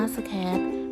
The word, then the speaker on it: Scratch: ความ หมาย ของ โปรแกรม scratch อ่าน ว่า สแคช เป็น โปรแกรม ภาษา คอมพิวเตอร์